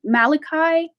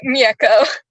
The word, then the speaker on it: Miyeko: much for sharing um i see malachi i think i might be saying his name wrong um hi it's miyeko oh my apologies i oh hi um hello my name is miako i will be